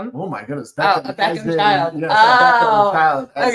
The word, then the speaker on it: Beckham: And Romeo Beckman. And it was a fused Beckham. Beckham. Oh my goodness. Beckham child.